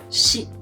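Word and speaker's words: し: 2 is ni, 4 is either 4 or shi. Shi should be remarked. There's a word with completely same pronunciation. That is death.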